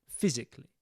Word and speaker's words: physically: Get the F sound there.